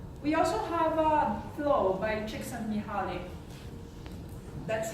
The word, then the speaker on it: Csikszentmihalyi: We also have Flow by Csikszentmihalyi. That's how you pronounce that weird name.